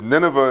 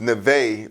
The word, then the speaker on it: Nineveh: The book is called Nineveh, and it's pronounced another way. It's Nineveh in Southeast. It's Neve for Arabics. Neve in Arabic.